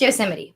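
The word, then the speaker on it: Yosemite: because I want to say it correctly it's yosee so it's yose National Park let's keep that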